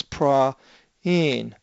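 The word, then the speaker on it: πραΰν: little bit different that we had the diuresis and where the uh Alpha Epsilon are together uh but the uh it's not an a it would normally be if it didn't have the double dots above the epilone but it does so you split this into two separate vows and pronounce each one of them so it's pra in a gentle people Leon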